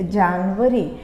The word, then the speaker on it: January: We call it जनवरी. आप इसे जनवरी बोलेंगे, जनवरी नहीं बोलेंगे. जनवरी हिंदी में बोला जाता है.